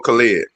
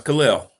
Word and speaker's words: Khalil: Khalil or Khalid? No, it's Khalil.